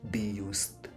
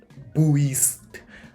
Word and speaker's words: BIUST: the word be used so it's be used right uh so I've seen people spell it as b u i s t uh and I'm like that doesn't sound like boed that's boist I mean like I'd